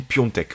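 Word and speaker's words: Piątek: Et l'AC Milan, pour son attaque, a acheté du coup l'attaquant du Genoa, qui s'écrit Piatek, mais que je crois se dit Piontek, voilà, qui a beaucoup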